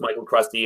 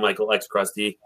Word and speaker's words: MichaelxCrusty: It You don't have to pronounce X. It could be just Michael Crusty and Michael X Crusty.